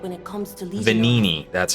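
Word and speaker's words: Venigni: Vanini is the expert when it comes to Legion Vanini, arms. that's how it's but pronounced.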